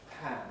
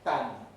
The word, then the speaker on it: pan: Pan. Slowing it down. Pan. It's that puff of breath. Pan. I have a high-tech demonstration device here. Pan. Pan. If I mispronounce it, it might be ban.